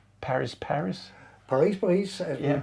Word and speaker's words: Paris: You had a band called Paris Paris. Paris, Paris, as Yeah. we pronounce it in, Yeah.